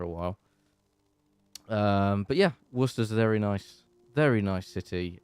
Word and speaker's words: Worcester: in a small City in the Midlands called Worcester or Worcestershire if you want to say the